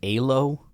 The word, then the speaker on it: Elo: Apparently, the proper Hungarian way to say it is Alo freaking whatever, bro.